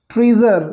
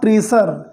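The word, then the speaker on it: treasure: Hidden ट्रेजर, okay, not ट्रेसर। यहाँ पर जो एस है उसको हम जा पढ़ेंगे, जा, ट्रेजर, राइट।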